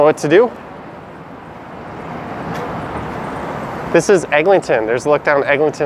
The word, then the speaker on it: Eglinton: Chan says we all pronounce the extra G. Yeah, most people who live here do as well. Kale lives on Holly Street. Is the Eglinton Mall open?